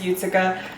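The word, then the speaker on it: Jucika: of you this is utica so utica or as you may see her on twitter looks like it's spelled jusika but actually it's utsuka um is a character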